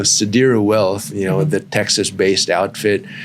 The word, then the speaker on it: Sadira Wealth: Other Well sadira wealth I now know how to say their name exactly how they want me to say it so sadira wealth you know the texas-based